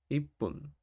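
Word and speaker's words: 一分: sería tenemos I pun la tsu chiquitita representa vocalmente un espacio antes del siguiente carácter del siguiente gir gana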